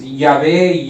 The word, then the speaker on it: Yahvé: hay una j y no hay una B en Jehová es yahvé yahwe no no se puede